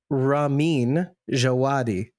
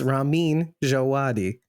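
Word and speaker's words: Ramin Djawadi: so that's why we we've all been saying the composer's name wrong by the way it's Ramin jaadi it's almost like rammen it's Ramin jaadi okay okay the code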